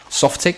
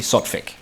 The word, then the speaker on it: Sotfik: that everyone has been calling Softic for the longest time. But I actually read, and there's a guy in chat pointing out as well, that it is actually Sotfik, which is very hard to pronounce.